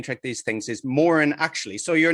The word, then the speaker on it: Moran: It's Moran actually.